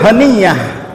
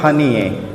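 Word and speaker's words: هنية: apa satu lagi Lebanon itu kalau bunyi a di ujung kalimat dibaca e ya nama perdana menteri Palestina Palestina itu Ismail haniyah tulisannya mereka baca Ismail honey teman saya orang Jordan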